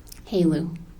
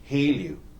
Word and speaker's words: HALEU: Haleu. Haleu.